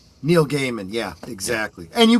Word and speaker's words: Neil Gaiman: Neil Gaiman. Yeah, exactly. And you pronounce it correctly.